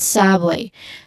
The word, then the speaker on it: subway: Subway. So the first syllable here, sub, has a short uh sound there like cup.